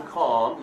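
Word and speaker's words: calm: اینو دارید توی کلمه ام دیدین قبلش ال تلفظ نمیشه مثل کالمه می‌نویسیم ولی می‌خونیم کام یه ذره می‌کشیم که با کام اومدن قاطی نشه یعنی خونسردی.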